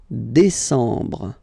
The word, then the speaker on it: décembre: And the last one, décembre, décembre, décembre. Same thing, E-M en décembre.